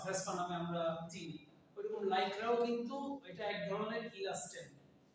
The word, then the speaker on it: লাইক্রা: হচ্ছে বাণিজ্যিক নাম বা ওটার আসল উচ্চারণ হচ্ছে লাইক্রা। আমরা বাংলায় ইংলিশ শব্দকে বাংলায় উচ্চারণ করতে করতে ল্যাকড়া বলি, লাইক্রা।